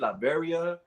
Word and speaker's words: Latveria: He only cares about his, how you pronounce it, Latveria, like Latveria.